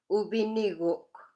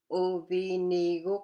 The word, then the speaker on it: uviniguk: Uviniguk has 4 syllables. So you break it up into U, just one, and then VI, and then Ni, and then NI, and then last one is Guk, Uviniguk.